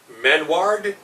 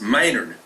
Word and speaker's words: Maynard: You got Michael Mad Mike, is it Manward? No, it's Maynard. Maynard. Mike Maynard. I got the spelling as Manoiord. How's that, Maynard? That it's the way you pronounce it.